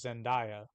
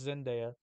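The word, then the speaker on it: Zendaya: say her name uh I assumed it was Zenia but no it's just Zena she's like it's real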